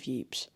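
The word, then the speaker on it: Ypres: of a heavily shed city of yeps pronounced wipers by the soldiers one of the sergeants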